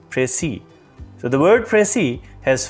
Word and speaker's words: précis: students pronounce it as precise precise so all these are incorrect the correct pronunciation for this word is pray see so the word pressy